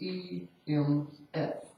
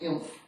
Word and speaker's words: EMF: Or lowercase e m f. Not pronounced inf, just EMF.